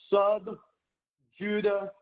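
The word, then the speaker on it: sub judice: Look at the pronunciation here, which does not use the standardized international system. Subjudice.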